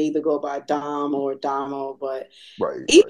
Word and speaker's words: Domo: And it's like, but I just told you it's Damo. Why are you dropping So the O? it's not Domo, it's Damo. Damo.